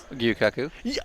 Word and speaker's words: Gyukaku: Gyukaku. Yes. Is that how you pronounce it?